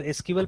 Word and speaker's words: SQL: तो अब देखिए इसका प्रोनाउंसिएशन में भी, इसको एसक्यूएल प्रोनाउंस कीजिएगा या सिक्वल प्रोनाउंस कीजिएगा, उसमें भी थोड़ा सा वो है, डिबेट है, बिकॉज एसक्यूएल का जो